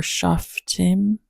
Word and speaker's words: Shof'tim: on Judges chapter 17, or Shof'tim 17. I guess that's how you pronounce it in Hebrew.